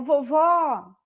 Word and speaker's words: vovó: Ô, vovó! Pode ver que a última sílaba é a mais forte. E como ela termina na letra O, eu coloco o acento da vovó.